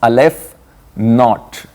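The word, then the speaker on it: aleph-null: yeah this is how how is it pronounced Alf not okay this is the pronunciation of not is same as noot okay Alf not it's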